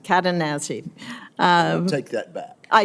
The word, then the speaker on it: Cadenazzi: I think the chairman mispronounced it. No, not at all. I've heard it all, ma'am. Um Katanazi. Katanazi.